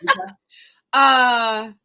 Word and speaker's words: Vita: Plus, I feel like it rhymes with Pepita, which is her grandmother. So Pepita, Vita.